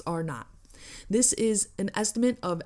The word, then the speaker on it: R0: The measure scientists use to determine how easily a virus spread is known as basic reproduction number, or RO, or pronounced R not.